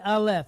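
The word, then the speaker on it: א: okay so we have the alf again it's a silent letter okay two silent letters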